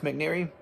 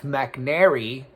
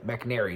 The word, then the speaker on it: McNary: there uh Dr Jeff McNary like I think it's like a bird I was gonna say a bird but I don't know if there's anyway McNary not mcneary anyway Dr Jeff McNary